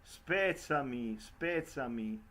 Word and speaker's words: spezzami: The double letter, for example, I just pronounce the very end of the aria, spezzami il cor, fammi morir, and she cross out the double. She say fammi, spezzami, and is the pronunciation of the Italian word.